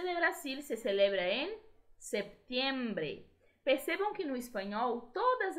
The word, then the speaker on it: septiembre: La independencia de Brasil se celebra en septiembre. Percebam que no espanhol todas as letras de uma palavra são pronunciadas, tá? Então, septiembre. O P, ele quase sai, tá? Septiembre. Mesmo sendo uma letra muda.